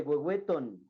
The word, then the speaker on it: huehueton: Dice huehuetocan con N, proviene de huehueton, se pronuncia huehueto, nos aclara, y se forma así huehuetocan, lugar de viejecillos.